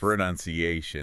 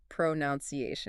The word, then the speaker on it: pronunciation: Pronunciation. Oh. Pronunciation. How often do we hear that word pronounced pronunciation? Right, like we add that extra noun in there.